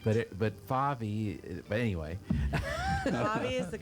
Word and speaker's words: Favi: you go by Faby correct but it but Favi but anyway is the correct pronunciation yeah but everybody calls you Phoebe yes